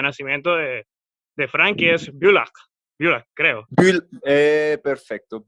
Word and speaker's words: Bülach: De hecho, me costó bastante tratar de pronunciar el sitio específico de nacimiento de Frank, que es Bülach, creo. Perfecto, Bülach.